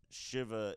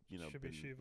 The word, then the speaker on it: Shiva: Okay, so the name's pronounced Shiva in India, but I was born here where it's just, Shiva.